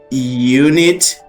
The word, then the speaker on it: unit: So as it goes like this, you have to say a because this is not let's say like um a vowel. It's like a consonant sound, right? So you say a unit. No, no, no, no. A unit. Yes.